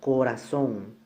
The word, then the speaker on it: corazón: Aquí tenemos el ejemplo, corazón, termina en N, entonces se tilda.